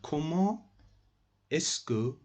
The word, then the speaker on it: comment est-ce que: Guys, it is pronounced like that. Comment est-ce que, you must do liaison here. Te and e, they are meeting each other, so you must do liaison here. You must mix each other, the pronunciation.